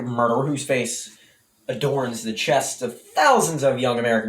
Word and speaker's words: Che: heard it said correctly shay is wrong shay with the so it's che with the ch pronounced like chase is right and his last name